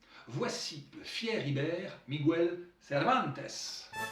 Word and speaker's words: Cervantes: le fier Ibère, Miguel Cervantes. Et heureusement qu'en espagnol, le S final, il se prononce, sans quoi ça ferait Servante.